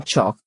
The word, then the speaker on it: chalk: In chalk, L is silent.